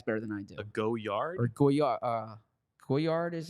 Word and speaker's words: Goyard: I need Emily here for that uh yeah guyard okay am I am I pronouncing it correctly yeah it's a a goard